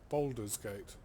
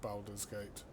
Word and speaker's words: Baldur's Gate: worms so it seems the official pronunciation is boulder's gate not baldur's gate well i've been saying